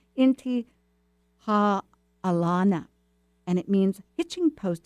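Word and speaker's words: Intihuatana: challenging how to say it I could probably spell it better but it's inti ha Alana and it means Hitching Post of of the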